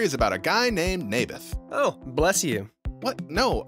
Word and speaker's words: Naboth: I like this little Nablers guy. You mean Naboth? Yeah, that's what I said. Maberf. I think you're saying it wrong. His name was Naboth.